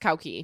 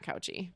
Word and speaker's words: Cauchi: And my son's last name is And it's actually pronounced Koki, not Couchi.